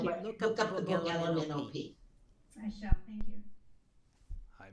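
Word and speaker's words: Ella Minnow Pea: Okay, it's spelled like the name, Ella, E-L-L-A, M-I-N-N-O-W, like the fish, and P like the vegetable. And it's called and it says LMNOP, and if you say it really quickly, that's the name of the book.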